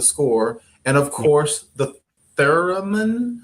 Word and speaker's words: theremin: And of course, the theremin, how do you pronounce it?